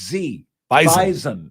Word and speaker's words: Bison: it's like you know they're very particular about the pronunciation correct it's Z bison yes bison if the Bison were